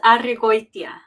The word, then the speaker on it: Arregoytia: It's pronounced Arregoytia. Arregoytia.